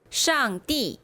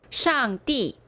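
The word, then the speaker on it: 上帝: 자, 참부 발음 한번 해 볼까요? 원인 푸 상제 쌍띠 천재 텐띠. 요게 띠니까 여기에도 발음 같아지겠죠? 한 번만 더. 쌍띠. 티엔띠. 요것도 티엔이니까 여기서도 티엔 이게 되겠죠?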